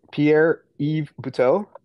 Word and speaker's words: Pierre-Yves Buteau: Is it Pierre-Yves Buteau? It is, correct. All right, yeah, I asked my wife how to pronounce it.